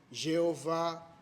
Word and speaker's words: Jeová: Os estudiosos tentaram de diversa forma e trouxeram várias possíveis formas de pronunciar essas 4 letras. Aí temos Javé, Yahvé, Jeová e muitos outros que você já deve ter percebido, deve ter ouvido alguns. São só formas diferentes que encontramos de pronunciar essas letras YHWH.